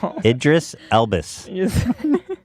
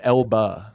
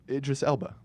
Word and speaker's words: Idris Elba: Idris Elbus. His name's a little What do you want from me? What's his name? It's Elba.